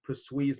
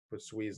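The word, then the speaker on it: Poiseuille: it into what's called press Wiis law I don't know French so some of you guys I believe that's how you pronounce it puts wheeze law this is an equation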